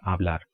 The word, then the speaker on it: hablar: going to speak so H is silent in Spanish in 99% of the cases for example if you